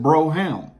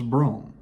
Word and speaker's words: Brougham: We also have the Cadillac Fleetwood Brougham, or as some would pronounce it, Brougham, but it was Brougham.